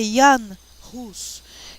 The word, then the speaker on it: Jan Hus: como John Wycliffe e Jan Hus. Vocês falam o J nas línguas europeias, queridos, principalmente alemão, no, sueco, ele não se pronuncia J, ele se pronuncia I, tá? Então é Jan Hus, que a gente pode chamar de João Hus, tá?